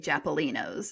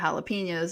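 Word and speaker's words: jalapeños: And then my grandma would always say japalinos instead of jalapenos.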